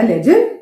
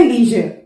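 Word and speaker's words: leisure: एक होता है लेजर, एक होता है लेजर, एक होता है लेजर या लीजर। इसका प्रोनाउंसिएशन दोनों सही है, राइट। एक ब्रिटिश इंग्लिश और एक अमेरिकन इंग्लिश। ब्रिटिश इंग्लिश में इट इज लेजर and American English में इट इज लीजर।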